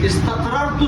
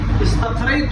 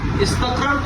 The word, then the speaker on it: استقررت: اور چوتھا لفظ استقرار، استقررت صحیح، استقریت جو کہ ہم غلط پڑھتے ہیں وہ صحیح نہیں ہے. صحیح تلفظ یہ ہے استقررت معناها بالعربیت ای مکثت، مطلب ٹھہرنا.